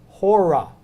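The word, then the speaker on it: ὥρα: and another one is hora hora means our it's where we get our from notice again the little H sound so the letter is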